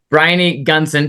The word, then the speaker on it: Briony Gunson: Brian Gunson. Tell me, make sure I got that pronounced right.